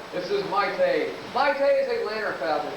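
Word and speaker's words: lanner: Mate is Atlanta falcon. L A N E R. I spell that cuz it ties people think I'm saying Atlanta falcon kept six years ago.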